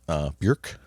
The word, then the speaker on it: Björk: Björk, I think is the proper pronunciation, Björk.